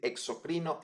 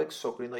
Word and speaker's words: exócrino: Academia acepta ambas maneras podemos decir exocrino endocrino o exócrino y endocrino Y la verdad es que yo toda la vida he estado acostumbrado a decir exócrino endócrino así que esa es la manera en que la voy a pronunciar en este video video Pues bien eh